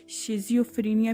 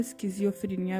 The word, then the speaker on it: schizophrenia: है psychological disorder है, जिसकी दो प्रोनाउंसिएशन है। कि आप इसको शिज़ोफ्रेनिया भी कह सकते हैं और आप इसको स्किज़ोफ्रेनिया भी कह सकते हैं।